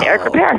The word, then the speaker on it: Ripert: I never can pronounce his name correctly. Is it Ripert? You got it totally right. It's Eric Ripert.